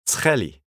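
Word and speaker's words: ცხელი: Next, we have tsheli, which means hot. And so for this, for the ts sound at the beginning, I think of pizza, and then the cheli part kind of reminds me of hell.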